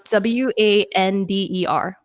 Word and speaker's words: wander: work this word okay matt how do you pronounce w-a-n-d-e-r wonder say that again wanda wander right yeah